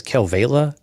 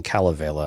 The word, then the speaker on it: Kalevala: It's been actually pronounced two different ways: Kelvala. Oh, okay. And then Kalevala, I think.